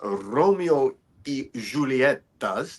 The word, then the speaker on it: Romeo y Julieta: I'm really enjoying these Romeo y Julietas. That's how it's pronounced.